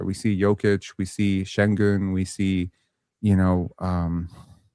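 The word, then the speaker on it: Şengün: I remember the day you asked me how to pronounce exactly. Yeah. Yeah. Yeah. Sengun. Sengun. Sengun. Sengun. Sengun. Sengun. Ah, that sounded right. Sengun.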